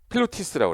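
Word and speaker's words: pilotis: 그래서 여기 필로티라는 게 뭐냐면 이게 프랑스 말로 필로티스에서 기둥이란 뜻이거든요. 말뚝같이 생긴 거를 우리 뭐라고 그래? 이걸 필로티스라고 그래요.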